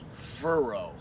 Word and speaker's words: furrow: news reporter number two furrow now that's an interesting word furrow kind of rhymes with burrow which means like a